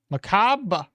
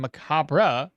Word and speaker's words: macabre: Macab Macab is a North American pronunciation. Macabra is a British pronunciation. So, I guess both are correct.